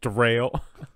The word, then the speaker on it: Daryl: It's like spelled Daryl, but pronounced Derail.